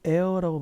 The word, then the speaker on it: heir: 그들의 이걸 heir라고 발음하셔야 돼요.